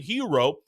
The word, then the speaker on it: Herro: And yes, when you hear that name Hero, it is spelled with two Rs because he is the brother of Tyler Hero.